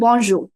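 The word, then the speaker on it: bonjour: you say it together bonjo yeah and because the r is very soft at the end it's almost not audible right it is audible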